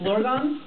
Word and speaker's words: Blorgon: we we should we should officially fix that pronunciation uh it is blorgon uh if we could